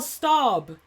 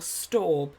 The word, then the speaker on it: Staub: that crazy lady allegedly Danielle Staub or stob is how I'd pronounce it but if you're watching